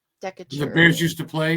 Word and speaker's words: Decatur: It's like Decatur or whatever it's called. Decatur.